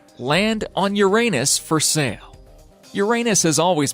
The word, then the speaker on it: Uranus: of the solar system in 1986 but Uranus pronounced Uranus and polite astronomical circles does not deserve its